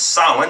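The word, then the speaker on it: Samhain: the eve of sin it's actually s a m h a i n pronounced sin as it tells me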